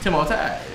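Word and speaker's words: Timothée: Timote. But nobody everyone I never knew that. Everyone knows Timothy, but I heard somebody say the right way to say is Timote.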